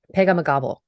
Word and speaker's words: Pegahmagabow: That's good because I actually missed a syllable. Pegahmagabow. That's what it's supposed to be.